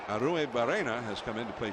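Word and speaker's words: Arruebarrena: one ball one strike there's a lot of syllables in that name aru barena aru bua and and the two RS you're supposed to really turn you know turn those RS around well give it to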